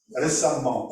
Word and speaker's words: récemment: Récemment, on prononce comme ça. On écrit E, mais on prononce récemment.